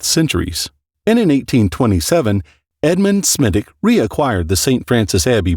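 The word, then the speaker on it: Smithwick: Brewing in 1710 John smithick pronounced smittic established a brewery at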